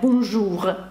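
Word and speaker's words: bonjour: Вона теж читається дуже часто, в іменниках вона читається, наприклад, такі слова як «бонжур», ви наразі розумієте, що «р» читається.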